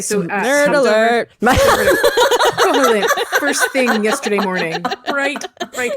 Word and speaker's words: Koholint: we hopped on over to oh gosh, Koholint. Is that how you pronounce it? Koholint.